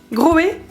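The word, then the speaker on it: Grohe: Comment tu prononces cette marque là? Groé.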